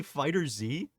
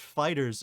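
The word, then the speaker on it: FighterZ: is it pronounced yeah it's pronounced Fighters not fighter Z I would love to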